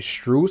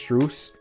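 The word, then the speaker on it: Strus: max what's his name strews i think that's what's pronounced strews and yurzev okay so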